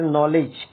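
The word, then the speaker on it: knowledge: जैसे नॉलेज, नॉलेज के अंदर डी के बाद क्या दिया हुआ है? जी, तो जी यहाँ क्या साइलेंट? एच के अंदर भी जी है, साइलेंट रहेगा, है ना। यहाँ पे जे है तो क्या रहेगा? साइलेंट रहेगा डी।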